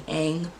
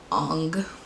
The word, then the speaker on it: Aang: Like some of these I kind of blocked out, but I very much remember them calling Aang Ong.